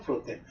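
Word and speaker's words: πρώτην: 이거 이제 길게 발음해야 됩니다. 프로텐.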